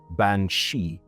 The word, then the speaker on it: bean sí: Now in the Gaelic tongue, she is banshei, pronounced roughly the same, banshei, literally woman of the fairy mount.